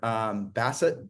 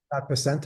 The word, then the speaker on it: Bessent: I did hear Bassett, how do you pronounce his last name, Keith? Bessent, I believe.